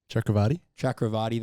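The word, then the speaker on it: Chakravarthy: Pronounce it. He's a teammate of Starkey's. Chakrabarti, there you go.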